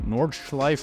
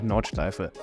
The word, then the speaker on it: Nordschleife: Okay, so here we go for a lap of the Nordschleife, not Nordschleife or Nordschleife, but the Nürburgring Nordschleife.